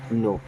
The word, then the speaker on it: know: हिम मीस उसे अब यहां पे के हो जाएगा साइलेंट इसे पढ़ेंगे नो डू यू नो हिम